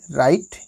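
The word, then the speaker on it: right: फिर अयाल नेक्स्ट है आर आई जी एसटी राइट इसको राइट पढ़ा जाएगा दोस्तों और राइट मतलब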